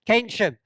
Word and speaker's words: Keynsham: Keynsham.